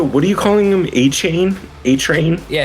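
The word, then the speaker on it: Achane: are you calling him a chain a train yeah his name's a chain that's literally isn't it that's how you say it yeah that's it that's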